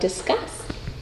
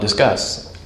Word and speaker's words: Disqus: co-founder and CEO of discuss so tell me about your company um discuss you said it right oh good us people say disuse or discus or something um so discuss is